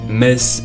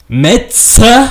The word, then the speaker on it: Metz: Metz, qui se prononce Metz et pas Metz.